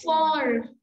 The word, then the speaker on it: fort: Next is parler plus fort. Parler plus fort is speak loudly. Okay. Parler plus fort. ठीक है, फॉर like T की sound नहीं आएगी इसमें, ठीक है, क्लियर?